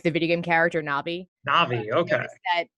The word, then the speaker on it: Novii: it's it's so it is spelled to be pronounced like the video game character Nabi Navi okay like from the spelling from people from